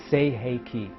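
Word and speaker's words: Sei He Ki: mental emotional addictive symbol it is pronounced say hay key practice drawing it and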